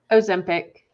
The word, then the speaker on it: Ozempic: Ozempic.